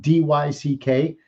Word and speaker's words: Dyck: Dyck, D-Y-C-K. Dyck, you can pronounce it any which way, just as long as you call me.